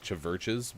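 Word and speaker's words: CHVRCHES: how you say it it's like church is spelled with a v so it's like chaverches basically they're really good they're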